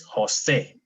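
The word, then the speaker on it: José: But if I put the accent, it's Jose. Okay? Okay. All right. for example, the name Jose. We're going to breathe that J like an H in English.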